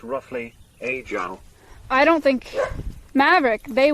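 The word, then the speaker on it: 阿胶: If it's the Mandarin one, Brian scuffs it a little bit, but it's pronounced roughly, Ajang.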